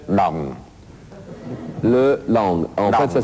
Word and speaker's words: dong: Notre monnaie, pour prononcer correctement, il faut dire le dong.